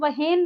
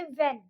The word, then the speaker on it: when: क्या बताया, देखिए H, यहाँ पे WHEN, इसको हम वहेन नहीं बोलेंगे, यहाँ पे H हो जाएगा साइलेंट, हम बोलेंगे वेन।